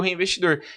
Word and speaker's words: HeyInvestidor: Você vai pronunciar do mesmo jeito. E foi aí que, basicamente, eu escolhi o reinvestidor.